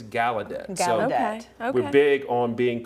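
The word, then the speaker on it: Gallaudet: I said Galudet but someone correct is Galedet.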